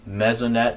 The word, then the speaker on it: Mesonet: So all the weather data we collect is stored and available publicly, real time and historically on our website at Mezonet, that's spelled MESONET.ksu.edu.